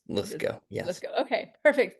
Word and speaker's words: Lithgow: Yes, yeah, Lithgow, like the actor John Lithgow. I don't think there's any relation, but it is pronounced Lithgow.